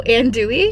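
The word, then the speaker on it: andouille: it and Dey oh and Dey yeah you don't pronounce LS no no no you don't all of the vowels and then the two L's and the e at the end is ooie ooie wow and Dey an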